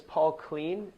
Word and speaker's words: Clean: But to get started, my name is Paul Clean, pronounced like Mr. Clean, and that's actually my email address, mrclean@Vortex Business Solutions.